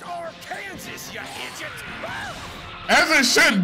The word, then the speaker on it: Arkansas: Send him back to Arkansas! It's pronounced Arkansas, you idiot!